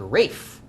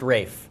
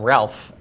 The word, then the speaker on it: Ralph: yeah it's spelled really it's spelled ralph but it's pronounced rafe wow and i'll bet he gets tired of people calling him ralph and was that's maybe